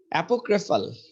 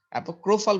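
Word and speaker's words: apocryphal: হ্যাঁ, অ্যাপোক্রাইফাল হবে এটা, তাইলে ক্রাইফ বলে না। হ্যাঁ, অ্যাপোক্রোফাল বলছে, এটা ক্রাইফাল বলছে না, অ্যাপোক্রোফাল। দেখছেন এই যে ক্রাইটা ক্রো বলতেছে, অ্যাপোক্রোফাল।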